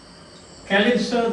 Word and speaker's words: Calypso: And Calypso, that is pronounced in English, Calypso.